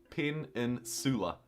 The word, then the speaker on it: peninsula: I pronounce the S as a C. Like a soft C? Peninsula.